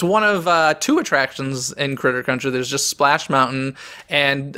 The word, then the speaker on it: Critter Country: Which is, I guess, if I pronounce it correctly, Scissor Country? Close. Critter Country.